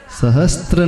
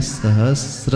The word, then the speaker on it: सहस्र: सहस्त्र नहीं है, सहस्र है। स और आधा र है, स और र के संयोग से।